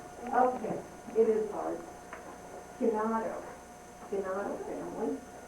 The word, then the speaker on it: Gennaro: That's the way it looks to us, but in Italian they pronounce different letters differently than we do, so it's really hard. They call themselves Gino family.